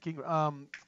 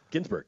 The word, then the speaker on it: Ginsburg: Gingrich? No, not Gingrich. Ginsburg. Ginsburg.